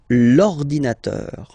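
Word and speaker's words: l'ordinateur: second case ordinator well you can see that it start with the vowel o okay and as I said you know a and o they don't get along that well so you get to take this H away and then you get this l inator linator all right and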